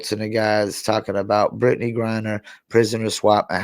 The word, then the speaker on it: Griner: What do you think about Brittney Griner's?